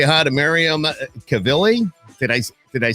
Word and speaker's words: Cavalli: I want y'all to say hi to Myriam Cavalli. Did I say that right? Cavalli, yeah.